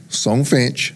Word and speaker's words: Songfinch: this one more time songfinch how spell it s o n g f i n h yes like it sounds songfinch decom so here